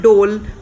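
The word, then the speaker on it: dhole: able to see one dole moving to and fro right in front of you in a few minutes these three dolls are siblings and dol is pronounced as dole although this it spells d-h-o-l-e and the scientific name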